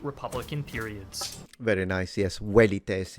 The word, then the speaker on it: velites: Velites in classical, but what he said is correct in ecclesiastical.